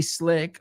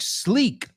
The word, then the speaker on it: slick: that floor is way slick or really slick. Excellent job. And it's not pronounced like sleek. Sleek, S-L-E-E-K, is elegante. Oh, have you seen that sleek new restaurant? Yeah, sleek. S-L-E-E-K. Esto es S-L-I-C-K.